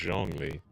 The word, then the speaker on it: Zhongli: It starts with a Z, but it's pronounced Zhongli.